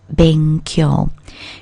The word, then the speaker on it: 勉強: Now it's the first character in the pair of characters which mean to study and are pronounced benkyou.